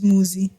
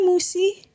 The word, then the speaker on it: Muzi: And this Tani would always say, "Hi, Musi," and My money? and your dad would be so confused as to what's so hard about pronouncing the Z in my name, like Umuzi.